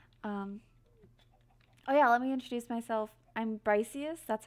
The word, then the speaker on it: Briciusss: I'm Briciusss. That's how you pronounce my username.